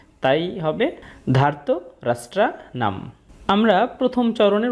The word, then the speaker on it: ধার্তরাষ্ট্রাণাং: তবে শব্দের শেষে অনুস্বর থাকলে অর্ধেক ম এর মত একটা সাউন্ড আসে। তাই হবে ধার্ত রাষ্ট্রনাম।